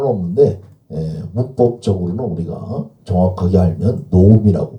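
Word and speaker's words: נָעֳמִי: 나오미가 아니라 노미 이렇게 발음을 하죠. 그래서 구차로면 나오미라고 읽어도 상관은 없는데 문법적으로는 우리가 정확하게 알면 노미라고 발음을 해야 합니다.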